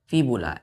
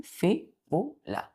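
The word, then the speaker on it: fibula: टी बया और दूसरा बोन का नाम है फीबुला एफ आई बी यू एल ए फी बूला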